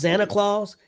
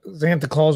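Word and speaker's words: Xanta Klaus: know this he was I guess it's pronounced Santa Claus x-a-n-t-a clause it must not been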